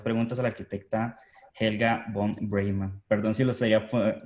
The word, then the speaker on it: von Breymann: Vamos a hacerle las preguntas a la arquitecta Helga von Breyman. Perdón si lo estaría pronunciando mal, ¿sí es todo correcto?